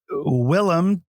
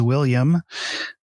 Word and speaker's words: Willem: um and then uh willem dafoe which regularly gets uh mispronunciated as william um so i'm surprised i got willam right um who also uh